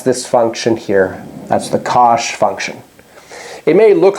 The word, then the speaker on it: cosh: The first one, written COSHX, is the cosh function. So we say cosh of x, and its definition is e to the x plus e to the minus x over 2.